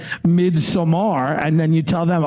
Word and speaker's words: Midsommar: I said, oh, I saw Midsummer, and they said, it's Midsommar. And I was like, okay.